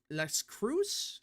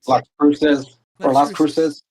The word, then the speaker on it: Las Cruces: New Mexico's red wall is getting strong with R plus shift at Albuquerque and Las Cruz. Is that how you say it? Las Cruces.